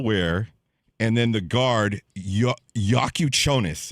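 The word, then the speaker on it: Jakučionis: Kel'el Ware, and then the guard, Yakuchonis is how you say his last name. Yakuchonis.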